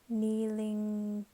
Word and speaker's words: kneeling: So the G is silent, kneeling in the sand.